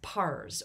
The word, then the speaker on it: Pars: small region of the Persian Empire known as Pars, or sometimes pronounced Fars.